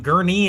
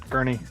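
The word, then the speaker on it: Gurnee: No, that's so the the emphasis is on knee, not g. Gee. Yeah, it's gie. Yeah. Yeah. No, for the longest time I called it just gurnie.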